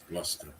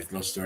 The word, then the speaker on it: Gloucester: glockkister abbey yeah glock yes how do you pronounce that zluster cluster okay gloucester yeah gloucester abbey i'll have a look i'm always looking